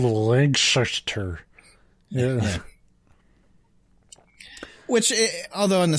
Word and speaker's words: Lancaster: Like I probably wouldn't even notice, but if you say it the wrong way, they'll be like, are you stupid, boy? It's Lancaster, not Lancaster. Not from around here, are you? It's called Lancaster.